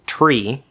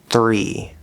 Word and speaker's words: three: Don't do a T up here. Don't say tree. That's not right. It's here. T T and then R. Three.